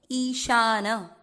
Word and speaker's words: ईशान: जैसे आप ईश्वर बोलते हो ना, बिल्कुल वैसे बोला जाएगा। ईशान, ईशान नहीं होता, ईशान।